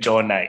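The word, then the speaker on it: Ntshona: winston and toshi and please correct my pronunciation oh winston jonah is the pronunciation of his enemies are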